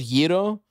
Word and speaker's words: gyro: The traditional is gyro. You know, like think of it as Y-E-E-R-O. But, gyro? You know, it's kind of annoying to be a guy who's like gyro.